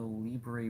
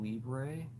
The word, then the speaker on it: Libre: Is that how you spell Libre? Yeah, it's spelled like the Spanish word, Libra, or the Portuguese word livra.